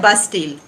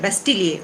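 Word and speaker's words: Bastille: इसको कहा जाता है बास्टील। अब इसको आप बास्टील कह सकते हैं, बेस्टील कह सकते हैं, लेकिन अगर आप फ्रेंच इसका प्रोनाउंसिएशन पूछेंगे तो वो है बेस्टिलिए, उसको बोलते हैं बास्टिलिए।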